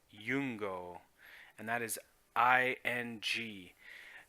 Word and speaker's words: Iungo: I you NGO or Lu NGO but it's pronounced yung go and that is I ng now yung go